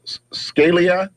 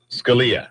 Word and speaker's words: Scalia: already all right anonin now scal Scalia Scalia the right pronunciation I apologize to whoever